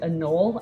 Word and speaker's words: anole: it and I say I think like the general reptile community has accepted a null as the pronunciation so that's just what I go with is no I did